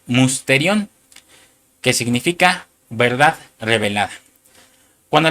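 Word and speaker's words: μυστήριον: Y esa palabra misterio, hermano, es la número strong 346. que se pronuncia musterion, que significa verdad revelada.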